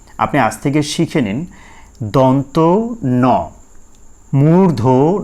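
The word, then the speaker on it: দন্ত্য ন: ভালো করে এটা শিখে নেবেন এরপরে আমরা সঠিক উচ্চারণ আরো শিখবো সেটা হচ্ছে এই যে এইটা এইটার ক্ষেত্রে আমরা বলে থাকি অনেকে দন্তান্য এইভাবে করে বাচ্চাদের শেখান বা নিজেরাও বলে থাকেন আসলে এটা দন্তান্য হবে নাকি দন্তন ন হবে সঠিক উচ্চারণটা হচ্ছে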